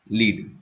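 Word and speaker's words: lead: में क्या होती है एलईडी यूज होती है सॉरी एलईडी कह रहा हूं लीड लीड यूज होता है लीड गलत प्रोनाउंस कर रहा हूं लीड एज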